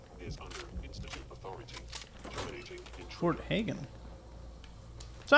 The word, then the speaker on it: Hagen: under instit Authority Fort Hagen so I have been pronouncing it right this whole time except when I said haggan and everyone got annoyed about that it was funny though